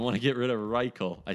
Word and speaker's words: Reichel: I don't want to get rid of Reichel.